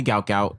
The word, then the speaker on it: Gout Gout: Like, listen, call me Gout Gout, and I'm good with it because.